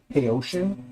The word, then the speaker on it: Haotian: So, like, that company that Jerry always talks about, that Haotian, it's not Haotian. It's actually, I found out it's Haotian. So it's actually pronounced Haotian. Like, hey, ocean, good to see your waves.